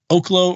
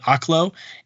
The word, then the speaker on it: Oklo: And now we're going to move on to Oklo or Oklo, depending on how you pronounce it. I've heard different people, even from inside the company, kind of pronounce it differently. So I'm going to call it Oklo, and it's a next-generation